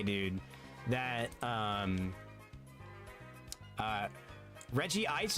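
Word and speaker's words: Regice: I still stand on business and I say dude that um uh Reggie Ice is Reggie Ice and not Reg Ice cuz in the older movies they pronounce it Reggie Ice.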